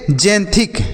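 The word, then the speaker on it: xanthic: इसे हम क्या पढ़ेंगे जैंथिक क्या पढ़ेंगे बच्चों जैंथिक एक्स ए एन देखिए एक्स का उच्चारण ज्यादातर आपको देखने को मिल रहा होगा कि ज के रूप में किया जा रहा है ज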